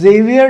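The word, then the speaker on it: Xavier: still call it जेवियर सो इट्स the French thing so in France जेवियर इज हैयर ह अ एंड इन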